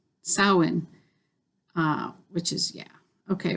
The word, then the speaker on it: Samhain: my god never mind but there's no m sound in the word samhain uh which is yeah